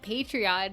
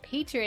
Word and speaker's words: Patreon: nerds out there that call it Patreon, even though it's patron. It is a running debate in this household. Yeah, it's spelled patron.